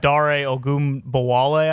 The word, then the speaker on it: Dare Ogunbowale: But you guys have Dare Ogunbowale, I believe is how you pronounce his name.